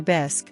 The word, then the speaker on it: bisque: mid-bite of her lobster bisque which she pronounced bisy with a force accent suddenly fixed me with